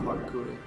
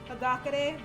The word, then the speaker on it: Hagakure: Ah, fuck off, Hakakure. You're an idiot. Like, I know it's pronounced Hagakure, but, I will always call him.